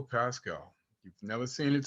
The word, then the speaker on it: Paschal: Hello, my name is Pascal. You've never seen it spelled this way. It's spelled M-E-I-K-L-E.